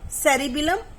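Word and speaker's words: cerebellum: थोड़ा थोड़ा pronunciation सेरिब्रम और सेरिबिलम है, ये बेल से है।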